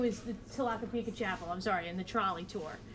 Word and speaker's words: Tlaquepaque: This is, I always have to write this phonetically, Tlaquepaque. When people say, they say it so fast, Tlaquepaque.